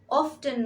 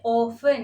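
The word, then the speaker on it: often: অফেন ফলসার অফেন false অফটেন নয় শব্দটি হবে এর প্রোনাউন্সিয়েশন হবে অফেন এখানে টি সাইলেন্ট থাকবে অফেন ফলস আদালত শোনা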